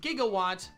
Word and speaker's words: Gigawatt: Spelled like Gigawatt, but pronounced like how Doc Brown says it in Back to the Future.